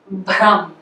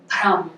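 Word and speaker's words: भ्रम: Okay, bhram, bhram. Okay. Pratah, pratah. And in this case, we pronounce the accent after it's noted in the script. It's complete opposite of the first case.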